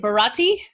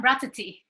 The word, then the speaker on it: Bratati: You get to go in, I know, for Melissa, and how do you say it? Bharati? Well, I'm Bratati.